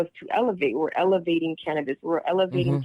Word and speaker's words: LAV8: And how do you say it? Elevate, LAV8.